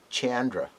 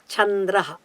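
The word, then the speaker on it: चन्द्रः: Chandra. That is not correct at all. The letters are Chandraha. Cha is a palatal letter. Chandraha. That's how you have to say.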